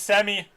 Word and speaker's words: Shemi: his way in there i say chevy but it's semi the h is silent warren is gonna try